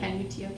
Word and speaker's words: Canutillo: Canutillo, yeah, Canutillo.